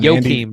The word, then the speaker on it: Joachim: That's not how you pronounce it. Joachim. I looked it up before the podcast and I forgot. Joachim, I think.